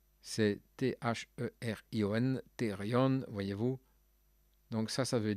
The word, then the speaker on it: therion: Comment prononceriez-vous cela? Zoon, je dirais zoon. Et therion, c'est T-H-E-R-I-O-N, therion, voyez-vous.